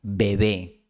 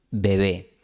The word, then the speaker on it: bebé: Si la pronunciamos de forma aislada, esta palabra empieza con B y tiene una B en medio. Bebé. Pero si está en la frase ese bebé, la palabra bebé ahora empieza con B, porque no sería